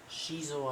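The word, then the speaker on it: Xizor: And so there's Shizo, I think is how you actually pronounce his name.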